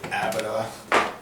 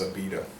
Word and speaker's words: Abita: 1986 AA started and I've seen some people on the internet say Abida they don't know how to pronounce it but it is AA and uh I went